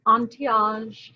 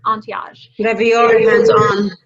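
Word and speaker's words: Antehage: you mute everyone um so until we met ontiage and i love their name entiage it's spelled a-n-t-e-h-a-g-e entiage when i'm typing oh let's save you oh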